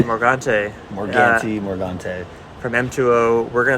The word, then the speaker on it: Morgante: how do you say your last name morgante morgante morgante from m2o we're going to talk about